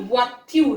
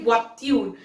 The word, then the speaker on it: voitures: Now S has been added, so it has become des voitures. Please remember, S is never pronounced.